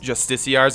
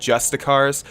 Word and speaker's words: justiciar: Whenever I pronounced justiciars, I said justicars, just because I've always seen it like that for some reason. My mind has not comprehended that, you know, it's justiciar.